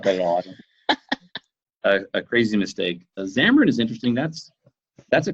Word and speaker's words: Xamarin: right way I hope excimer in is that how do you say the way to say that is xamarin xamarin oh I'm so